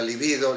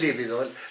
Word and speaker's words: libido: que ver con la libido. Libido, decimos libido, no es líbido. Líbido quiere decir blanco. Mucha gente dice líbido, es libido, no lleva acento en la primera I.